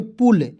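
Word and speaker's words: pull: देखिएगा पी से होता है दोस्तों प होता है, और यू का उच्चारण यहाँ पे छोटा ऊ की मात्रा एल से ल, तो पी यू एल क्या पढ़ेंगे पुल, पी यू एस एच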